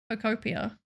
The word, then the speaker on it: Pokopia: Pokopia? Question mark. I don't know. I vote Spark since I'm already there. That's very funny. Crelly? I'm not raiding into Crelly. Pokopia. You said it right.